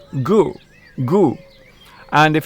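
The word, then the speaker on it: 狗: By the way, in Chinese, dog is pronounced gu, gu.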